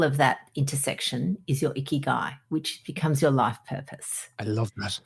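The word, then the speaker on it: ikigai: the um concept of iy guy no okay so I love so iy guy is a Japanese phrase and the way I remember it is it rhymes with sticky eye so can't quite remember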